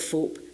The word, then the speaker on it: Phawhope: It's an old cottage on Will's farm at Fope, which is confusingly spelt Fauhope, but it's pronounced Fope.